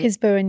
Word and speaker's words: Piz Buin: Um, Piz Buin, is that how you say it? Piz Buin, yeah. Piz Buin.